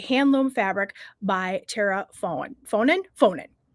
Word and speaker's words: Faughnan: Faughnan is my understanding of how you pronounce it.